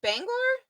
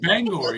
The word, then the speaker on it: Bangor: It's not Bangor. Oh, you said it right. People always go Bangor. I go Bangor. No, it's Bangor.